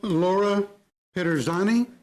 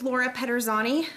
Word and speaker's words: Pederzani: uh i'll call now laura pedersani i pronounce that correctly my name is laura pederzani i'm president of city